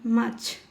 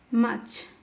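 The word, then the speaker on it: March: উচ্চারণ হয়েছে ফেব্রুয়ারি ফেব্রুয়ারি মাচ মাচ consonant আর এর পরে কনসোনেন্ট থাকার কারণে আর উচ্চারিত হয়নি মাচ এফরল এপ্রিল না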